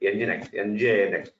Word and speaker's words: nginx: Of course, in the market, There are so many web servers like nginx.